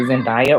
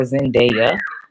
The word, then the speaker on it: Zendaya: Okay, you can pronounce it Zendaya or Zendaya.